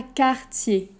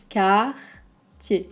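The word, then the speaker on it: Cartier: dior ensuite on a quartier car tu y es quartier un peu la même idée que dior le r va pas être très fort on va pas dire car tu y es ok juste car tiékar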